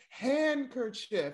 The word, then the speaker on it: handkerchief: Well, nah, but for real, for real, is handkerchief spelled with a D? Yeah, so handkerchief with a D. Is it? Yes. I ain't know it that. It is. It's handkerchief. Handkerchief. It's not handker.